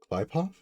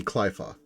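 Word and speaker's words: Qliphoth: Klipov? Oh, right, because there's a Q in it. I just haven't been pronouncing the Q. Yes, I believe it should be Qlifoth, or Qlifoth.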